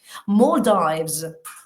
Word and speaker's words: Maldives: Maldives. Esa es una O larga.